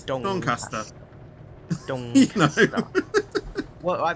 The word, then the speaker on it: Doncaster: No, yeah, it's Doncaster.